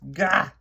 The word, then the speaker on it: Gogh: Like I said in my introduction, if you were to go to Holland and ask for the Vincent van Gogh Museum, they probably would correct you and say his name is Gogh, because that is how they say it in his home country.